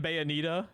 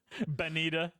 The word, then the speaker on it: Bayonetta: I mean, her name will be pronounced. How can you fuck up Bayonetta? Bayonetta. She's Bayonetta now. Benita.